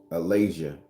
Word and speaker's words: Alazia: So the word we're going to talk about, and I've just pulled it up so I can say it right, is called Alazia.